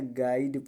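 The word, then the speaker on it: guide: तो इसलिए इसको क्या पढ़ा जाए? गाइड पढ़ा जाए। गाइड, देखो ऐसे गाइड, ऐसे ऐसे, गीड नहीं पढ़ा जाएगा।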